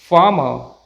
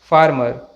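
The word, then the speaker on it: farmer: फार्मर, ना कि फार्मर।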